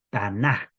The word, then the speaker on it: Tanakh: Ahora, esta expresión Tanaj, que termina en K, pero su pronunciación cuando es como última letra tiene un sonido como de J, pero se escribe Tanakh,